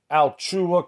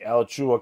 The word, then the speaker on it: Alachua: news that happened in altua county florida hopefully i pronounced that name correctly all right i'm gonna look here alachua excuse me el chua county florida which is in